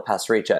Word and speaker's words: Pasricha: Like I always say, Neil Pasricha. It's like passing a salt shaker, reaching for it, and then relaxing afterwards. Pass, reach, which has worked well for years until I did an interview on BBC India.